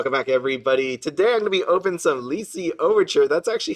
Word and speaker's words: Lycee Overture: Today I'm going to be opening some Lycee Overture. That's actually how you pronounce it.